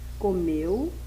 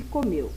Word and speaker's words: comeu: das palavras chapéu e comeu embora as duas palavras terminem com as vogais e e u em Chapéu a letra e tem som aberto e em comeu a letra e tem um som fechado e E quanto a